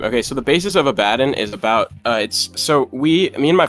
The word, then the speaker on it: Abaddon: Go about pronouncing it Abaddon.